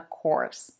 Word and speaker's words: course: curse and remember that at the University you take a course not a curse the next pair is